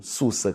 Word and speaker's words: Sussa: que as pessoas pronunciam, Sussa, com 2 S. Porque, em termos de fonologia, de fonemas, tanto faz você escrever com S como com C cedilha, o som é o mesmo.